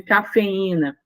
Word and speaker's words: cafeína: quando eu falo de cafeína faa saúva balaustre percebam que a gente tem cafeina então separou tanto e quanto I formando aí G em sílabas diferentes logo eu tenho o